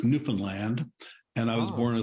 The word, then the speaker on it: Newfoundland: province that's exactly on the East which everyone mispronounces and calls it Newfoundland but it's Newfoundland and I was born in a small town